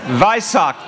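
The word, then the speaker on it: Vesak: to do a special welcome to those celebrating they sock am I saying it right they suck they suck vie sock thank you which honors the Buddha's life and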